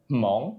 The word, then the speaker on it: Hmong: um but for family they're called mong it's spelled h-m-o-n-g so for the hmong